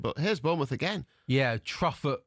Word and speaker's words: Truffert: Yeah, Truffert. Is it Truffert? Truffair? We're going Truffair, aren't we?